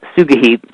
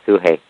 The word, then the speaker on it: Sugehit: Am I saying her name right? Sugahit? Yeah, Suhei. Suhei. Okay. They spelled it Sugehit. Yeah. I thought it was spelled differently, but yeah, they spell it like 7 different ways. Okay, so the way they spelled it, I thought her name was Sugehit. Yeah, just say Suhei.